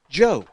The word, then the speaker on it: Dju: It's spelled DJU, Right? but it is pronounced Joe.